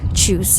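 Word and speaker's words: tschüss: i'll say alvita sin or choose choose is a very informal way of saying goodbye or see you later and it's spelled t-s-c-h-u-s-s with the exclamation mark you all so choose you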